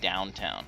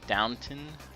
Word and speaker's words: Downton: it about downtown downtown i keep wanting to call it downtown because it just looks like that's how you say it downton um what is it